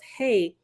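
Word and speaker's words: ה: letter of the illustration another letter hey pronounced hey is the Divine daughter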